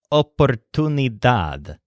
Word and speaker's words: oportunidad: sparrow missed her chance the word oportunidad as a stress on that last syllable dad but the secondary stressed syllable is tuned oportunidad una oportunidad means an